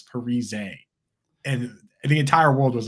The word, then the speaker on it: Parise: let you guys know everyone's been saying my name wrong the entire time it's Parise and the entire world was like okay Parisi like I'm sorry dude